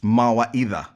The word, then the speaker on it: Mawaitha: then the the company name how is it pronounced as well so that's also swahili it's mawa either either wow i would have never guessed trust